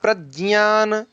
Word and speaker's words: प्रज्ञान: यत् प्रज्ञान, ये ज और य से मिलकर के ज्ञ बनता है, तो आप लोग प्रयास करिएगा कि ज्ञ ऐसा ही उच्चारण हो।